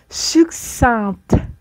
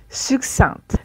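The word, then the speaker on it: succincte: succin et au féminin sucinte sucinte on va prononcer le te succinte le rapport sur le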